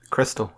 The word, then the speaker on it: Xtal: pronounce Xtal? Crystal.